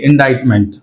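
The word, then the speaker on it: indictment: ఇక్కడ ఇండైట్మెంట్ అని వచ్చింది, ఇండైట్మెంట్. రైట్, ఇక్కడ సి అనేది సైలెంట్.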